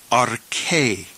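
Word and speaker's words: ἀρχή: So we will pronounce this second word arche. Arche.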